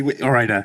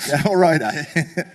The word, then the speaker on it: Ore-Ida: Tom, the the Kitchen's approach, whether it's Ore-Ida, if I pronounce it correctly, Ore-Ida. Ore-Ida.